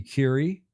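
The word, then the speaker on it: Currie: the bottom and Andy Curie, I guess that's how that's pronounced, like Madam Curie.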